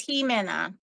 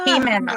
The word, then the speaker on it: Ximena: said it was Jimena. Yeah. What is it? Jimena.